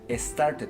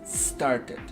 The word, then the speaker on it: started: E, por costumbre, y queremos decir started, pero no, es started. Y aquí sí pronunciamos esta E, importante, ¿por qué? Porque la T y la D suenan muy parecidas, y entonces si yo no pronuncio la E, no me voy a dar cuenta que lo estoy diciendo en pasado.